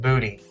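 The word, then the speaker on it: Boody: town right up the road from us called booty it's spelled b-o-o-d-y and sometimes I'll call her from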